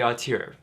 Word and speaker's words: auteur: Yes, this is how you say auteur.